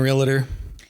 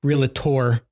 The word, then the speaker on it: realtor: have you been a realtor or sorry realator did I say it properly still wrong how do you say realtor real Tor real yeah four years